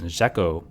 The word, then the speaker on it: Jacot: This is a jacket tool, though some pronounce it jacko, which is used to